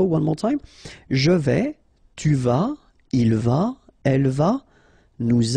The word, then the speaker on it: tu vas: Tu vas. Final S not pronounced. Tu vas.